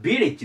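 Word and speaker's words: village: 昨日で次がビリッジですビリッこれアクセントここに行きますビリこれで村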